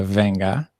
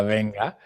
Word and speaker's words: venga: We had either venga, que no se pronuncia venga, se pronuncia venga, venga y vamos, which is like whenever you want something done more quickly.